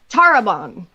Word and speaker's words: Tarabon: pronounce this josh terrebonne tarabong todd tarubon tarabon so we need to roll this that r a little bit yeah do you know